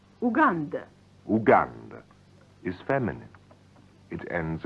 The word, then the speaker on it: Уганда: Pronounced Uganda.